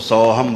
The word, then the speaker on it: सौहम: 2 बिंदियां लगी होंगी, तो उसको सौहम बोलेंगे। सौहम याद रखें, ठीक है। सौह करेंगे तो फिर अंग की बिंदी रह जाएगी, फिर वही माँ का उच्चारण आखिरी में आएगा, सौहम, ठीक है। ऐसा ध्यान रखें, जहाँ पर भी ऐसा शब्द आएगा तो सौहम करके बोले, सौहम।